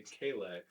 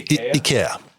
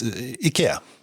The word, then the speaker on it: IKEA: well Swedish you should because that's how you pronounce it well I know I've heard other people say KX and that's not correct Kevin speaks Swedish so